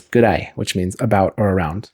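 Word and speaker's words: ぐらい: I mean, I guess if you said it very slowly, it would be, but instead it's gurai, that a and e combine to make an I sound like your I, gurai.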